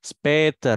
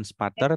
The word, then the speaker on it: später: Später, Ati ya, bukan spater tapi später.